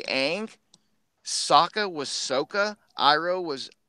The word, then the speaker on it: Aang: as Katara Sokka and Angwin but then the pronunciations why the hell are you changing the way you say names Aang like it is there some legal reason you can't say ank Sokka was Sokka Iroh was yo or whatever